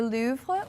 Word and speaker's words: Louvre: Yeah, Babbel says the correct pronunciation is the Louvre with a very soft pronunciation on the R. As you know, I went to the Louvre this year, and I also speak French, so I knew that one.